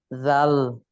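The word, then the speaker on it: ذال: জাল। এই তো মানে জিভা বের করতে বলছি এখন পারলেন, যে ওই চিত্র দেখাইয়া জিভা বের করতে, হ্যাঁ জিভা বের করে উপরে দাঁতে লাগিয়ে উচ্চারণ করতে হবে।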